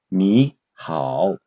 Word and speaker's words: 你好: The correct pronunciation will be 你好. With now the correct tongue is the third tongue, but let's try to say it in four different tongues of how in Chinese.